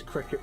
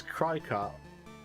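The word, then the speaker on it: Cricut: about i mean yeah technically we would pronounce it cricket but i it's weird yeah i i i read it as cry-cart i could see cry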